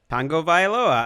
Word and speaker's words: Tagovailoa: Last name pronounced how, Greg? Tagovailoa.